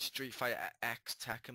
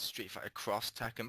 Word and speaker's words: Street Fighter X Tekken: in that and I do realize it's not pronounced Street Fighter X teken by the way it's Street Fighter cross Tekken but I like to call it Street Fighter X Tekken because it's more funny how does RoR feel